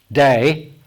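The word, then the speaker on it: δεῖ: looks a lot like dia but it's day or d depending on how you pronounce it it literally means it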